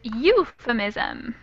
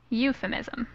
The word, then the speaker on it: euphemism: this one here is euphemism euphemism and this one is one that people make a lot of frequently make mistakes with because words like Cuba there a diphthong that EU sound alright next could be